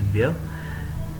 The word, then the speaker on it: vieux: It's V-I-E-U-X, and the pronunciation is wir.